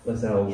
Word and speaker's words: Lascelles: I meant to ask you beforehand, I was like, Lascelles. Yeah. Don't want to stand up embarrassingly pronouncing the name wrong.